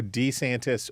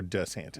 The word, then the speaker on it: DeSantis: say DeSantis but Trump's announcement campaign he he pronounces it I he says I'm Ron DeSantis so D santis or DeSantis yes and it's decent he says D santis